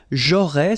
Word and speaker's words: j'aurais: J'aurais, so final S, not pronounced, j'aurais.